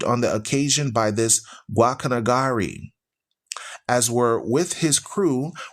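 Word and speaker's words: Guacanagarí: It says Guacanagari with the stress on the last syllable, and he numbered among his vassals many men of high standing, several of whom I know personally.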